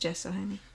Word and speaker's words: gesso: it in gesso gesso it says gesso that is pronounced Jesse well maybe this is user